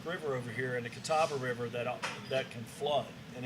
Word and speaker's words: Catawba: And you Catawamba. call like somebody and say, well, what's your address? Catawamba. It's Catawba Avenue, and they go, I don't can see you anything.